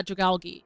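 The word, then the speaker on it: Dragalge: I've always heard it like drag and then algae. Oh, cuz I think it's like based off. Yeah, Dragali.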